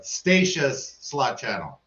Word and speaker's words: Stacia's Slot Channel: that breakfast get her name right finally so Stacia's slot Channel there you go um that's how you pronounce it I might not be the best